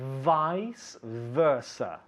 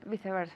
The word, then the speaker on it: vice versa: So, Vice versa. vice versa. Vice versa. Okay, so how do you say it in English? Vice versa. Vice versa with a good V sound, not vice versa.